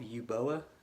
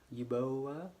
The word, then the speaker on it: Uboa: under the name of you boa you bow I think is that's how you say it I've been told